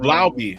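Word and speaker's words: Laube: Lauby. It's Lauby. It's Lauby. Not no. Lauby. Like Lau B. Fucking Lobby, motherfucker. It is what I call it. Not Lobby. It's not Luby. It's Lauby. Lauby.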